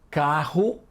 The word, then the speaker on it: carro: Carro e caro. O R de piorra, morro e carro é mais forte.